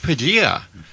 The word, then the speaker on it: Padilla: the executive producer and Padilla rhymes with tortilla it's right that's right